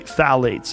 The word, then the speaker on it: phthalates: And when the introduction of phthalates, it starts with a P, P-T-H-A-L-A-T-E-S, I think it's how you spell it. You say phthalates, and phthalates are a